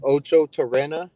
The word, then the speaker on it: Ochotorena: my last name right it's Ocho torena o c h o t o r e n a um you can also